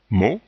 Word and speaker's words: mot: O est ouvert donne ici le T n'est pas prononcé le O est le dernier son du mot ou de la syllabe on dit bien mot ici on a un